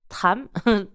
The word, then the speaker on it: Trâm: And here, my issue is that I chose to name my restaurant Tram, pronounced Vietnamese. Yes, I'm so glad you said that. So Tram 130.